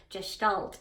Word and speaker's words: Gestalt: this because I totally am messing up the pronunciation, but it's Gestalt.